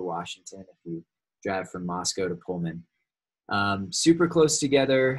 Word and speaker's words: Moscow: Don't ever pronounce it Moscow, by the way. Any of you from northern Idaho know this, but I did, and people laughed at me. It's pronounced Moscow, not Moscow, whatever.